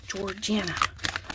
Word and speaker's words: Georgiana: George plus Anna. Georgiana.